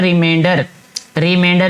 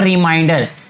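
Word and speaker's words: remainder: फिर उसको सब्ट्रैक्ट करेंगे तो ये आ जाएगा, इसको कहते हैं रिमाइंडर, इट्स नॉट रिमाइंडर। अक्सर बच्चे जो है इसको गलत प्रोनाउंस कर देते हैं, रिमाइंडर कहते हैं, लेकिन रिमाइंडर का मतलब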